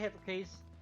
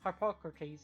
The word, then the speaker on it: Harpocrates: Hey, Hippocrates. Or Lawsman Harpocrates. Harpocrates, that's how you pronounce it.